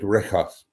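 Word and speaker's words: Rhigos: They always pronounced it Rikos. There was no hri. It was Rikos.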